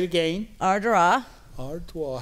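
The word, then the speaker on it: Ardara: Yes, we went to the small town of Ardrah, which is the most... Say it again. Ardrah. Ardrah. How do you spell that? A-R-D-A-R-A. Oh, wow. So it looks like Ardera, but right, it's pronounced Ardra.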